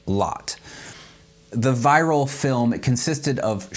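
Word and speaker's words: Lotte: A few years ago, Dutch artist and filmmaker Frans Hofmeister released a time-lapse video of his daughter, whose name I believe is pronounced Lot.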